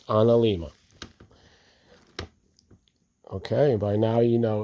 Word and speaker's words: analemma: Solar Ana Lima is how it's pronounced. Most people don't get this vowel and this vowel the right way, but it's an Lima.